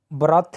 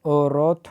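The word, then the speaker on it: wrath: Next word है आज का इसको ब्रथ नहीं बोलेंगे, औरत बोलेंगे, औरत, यानी कि डब्लू साइलेंट है इसमें।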